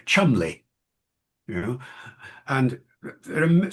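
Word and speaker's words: Cholmondeley: like um it looks like Cholondly is actually pronounced chumly, you know, and there are so many examples of a proper name not being pronounced.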